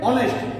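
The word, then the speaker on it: honest: হয় কিন্তু এখানে অনেস্ট এখানে তো হনেস্ট উচ্চারণ হয়নি এখানে কি উচ্চারণ হয়েছে অনেস্ট তার মানে এইচ এর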